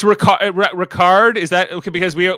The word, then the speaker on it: Ricard: i was like it's ricard rock it's almost like rock hard i don't know it's